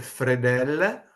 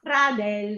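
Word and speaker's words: fradèl: Al me fredel. Fradel. No, fradel. Fra del, quindi la e grave.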